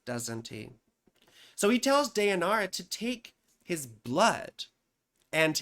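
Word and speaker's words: Deianira: deara and nessus or some people mispronounce it as de janara or whatever but it's deara and nessus right so Heracles quickly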